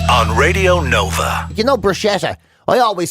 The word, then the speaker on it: bruschetta: No, apparently you're supposed to put the K sound in. Bruschetta is apparently the proper way to pronounce it.